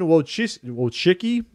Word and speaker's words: Wojcicki: So, Susan Wojcicki, is how you say it, the YouTube CEO,